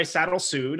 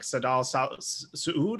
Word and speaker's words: Sadalsvvd: yeah totally um so i go by saddle sued online uh i think i'm horribly butchering it i think the real pronunciation is something like saddam sued or something like that because it's arabic um but you know